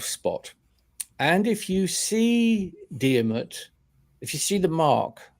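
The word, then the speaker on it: Diarmuid: And I'm thinking of another guy in Irish myth, Diarmid, son of Divney. Dermot, son of Divney, in the English pronunciation.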